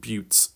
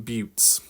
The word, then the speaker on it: buttes: I suppose it looks like a butt, but not pronounced that way.